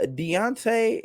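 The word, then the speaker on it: Dejounte: san antonio fans uh deontay is how you say his name deontay murray was traded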